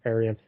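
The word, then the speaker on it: Arion: Lord of Atlantis and that is spelled a r i o n Aran and it lasted 35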